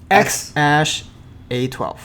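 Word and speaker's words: X Æ A-12: X-Ash A12. X-Ash A12. Yeah. So the ash is the A and the E meshed together, like American Eagle symbol or Yes.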